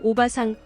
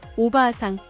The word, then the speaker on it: おばあさん: 같은 단끼리 모음이 이어질 경우 장음이 됩니다. お母さんおばあさん大阪 의 경우 오카상, 오바상, 오사카가 아니라 오카아상, 오바아상, 오오사카로 발음해야 합니다.